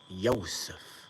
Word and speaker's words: Yosef: Why do you think Joseph is spelled or pronounced Joseph? It's Yosef, Yosef.